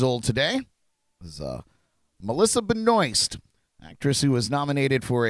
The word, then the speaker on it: Benoist: French would pronounce it Benoit or Benoit but uh apparently her family and her uh pronounce it Benoist so there you go